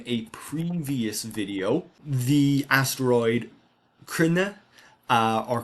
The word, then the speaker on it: Cruithne: You may remember from a previous video the asteroid Cruithne uh or Creenee as some people pronounce it. Uh Cruithne it would be the Irish pronunciation. It does come from the name of a Celtic tribe.